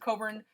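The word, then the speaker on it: Cockburn Street: same way it's pronounced if you do not pronounce it coburn the locals will make fun of you so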